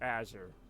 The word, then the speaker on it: Azure: Yeah, I'm sorry, it's pronounced Azure.